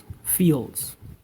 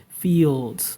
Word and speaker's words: fields: All right, fields. It's not. I will try to say it like in Spanish version. Fields. You see the difference? You hear the difference I'm saying? Fields. This is Spanish version.